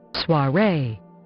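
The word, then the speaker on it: soirée: I want to know how to pronounce this word. I think it's soiree. Soiree.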